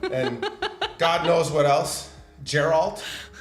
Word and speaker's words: Geralt: God knows what else geralt I never said Gerald actually I used to say